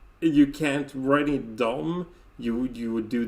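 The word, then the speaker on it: de: is interesting thing that when you see d e it's often pronounced dom yes um yeah it's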